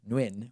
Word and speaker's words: Nguyen: evening Johnny and win it's just so hard for me to imagine that that's actually how it's pronounced but listen Who am